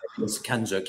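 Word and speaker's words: CANZUK: Kanozuk, or how do you pronounce it? The Kanzuk. Kanzuk, yes.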